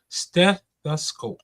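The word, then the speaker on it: stethoscope: Slow down and break it down into three syllables and hit the step hard. Steth the scope.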